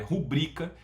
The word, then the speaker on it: rubrica: A forma correta de falar é rubrica, não fale de outra forma, né? Não vou nem falar para não confundir. A palavra é paroxítono, né? A sílaba tônica é o brica, né? Rubrica, não esqueça o acento aí no U, tá?